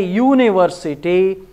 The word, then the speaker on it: university: When you say university, it is Y-U. What is Y? Y is consonant.